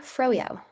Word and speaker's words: Frojo: I'm Frojo, pronounced like frozen yogurt.